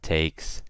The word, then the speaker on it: takes: your pronunciation gets better so with words like takes gets you pronounce it with an S okay so I don't say takes I don't use a Z I use an S